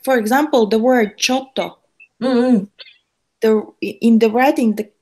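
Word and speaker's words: ちょっと: when we write in Roman alphabet, it's like It's two double T. yeah. So it's like a T sound, silent T sound. Silent T sound. So it can be chotto.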